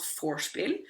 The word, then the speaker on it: vorspiel: Also, pre-gaming is called vorspiel, spelled with a V, but pronounced as with an F, as in German.